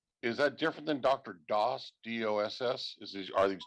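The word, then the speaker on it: Das: sandra can you no his last name is is d-a-s but but it's pronounced dos okay so but it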